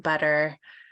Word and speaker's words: butter: It's more common in the middle of the word, and it's actually called a flap, and it's in between a T and a D. So like butter.